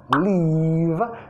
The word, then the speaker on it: leave: If I leave, dientes de arriba, labio de abajo.